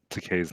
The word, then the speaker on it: Takei: I do like that they took the time to correctly pronounce Takei's name. It rhymes with okay.